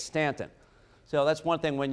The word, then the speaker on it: Staunton: a half now in stockton stanton stanton i'll always say that and i always correct you yes thank you i